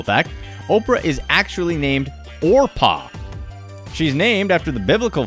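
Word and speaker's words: Orpah: Oprah is actually named Orpa. She's named after the biblical figure in the book of Ruth, but people mispronounce it regularly and Oprah stuck.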